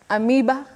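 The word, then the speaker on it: amoeba: about that oh Betty the O and E in that word function as a diagraph a diagraph is a combination of two letters representing one sound and the sound in that word is e the long sound e so you say am am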